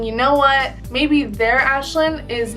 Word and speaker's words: Ashlyn: at me, and he goes, "How do you pronounce your name?" And I was like, "My name is Aislinn."